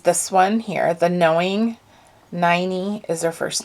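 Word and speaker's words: Ninie: I let me see her name is n-i-n-i-e but I read her biography and it's pronounced 90. rhymes with tiny and it was see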